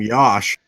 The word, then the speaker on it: Yosh: Uh his first name rhymes with Josh apparently according to the Packer site.